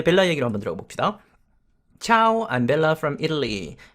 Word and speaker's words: Ciao: Ciao, I'm Bella from Italy. 여기 시아오 아니고 차오라고 발음하면 되겠습니다. 당연히 중국어 아니고 이태리어입니다.